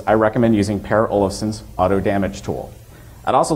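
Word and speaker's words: AutoDMG: recommend using per Olson's Auto damage tool I'd also like to note that auto damage is how PA himself is indicated he wants it to be pronounced I myself have nothing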